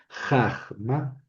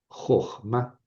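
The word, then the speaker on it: חָכְמָה: Tona, a Entonces, no es jajma, es jma. Eh, jojma.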